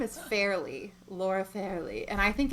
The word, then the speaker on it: Fairlie: In my audiobook, they pronounced it Farley the whole time, so I didn't even realize it was spelled like that.